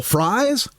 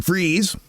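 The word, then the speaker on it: Fries: country hit convoy and they call him Bill Fry when he pronounced his name Freeze.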